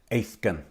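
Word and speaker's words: aithgein: And Old Irish, it's actually pronounced Aithgan.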